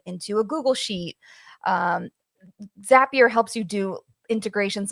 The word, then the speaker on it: Zapier: So yes, it is Zapier pronounced like happier.